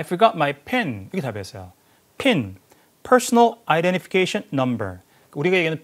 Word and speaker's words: PIN: PIN, Personal Identification Number.